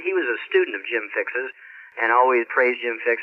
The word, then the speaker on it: Jim Fixx: jogging came up, and was it Bill Kick? Jim Fixx.